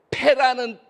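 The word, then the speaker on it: פ: 그 히브리어로 숫자의 8은 페라는, 알파벳으로 발음하면 페예요, 페.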